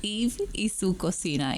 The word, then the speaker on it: Eve y su cocina: business called, and I'm going to let you pronounce that because that's a little tongue twister for me. It's Eve y su cocina, Eve in her kitchen.